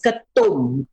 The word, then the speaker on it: ketum: In Malaysia, it is pronounced as ketum.